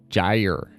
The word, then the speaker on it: Gyre: to do number one her name is Gyer pronounced Gyer as in gyo which is what she's named after because she's a ballerina and she spins like a gyro number two been seeing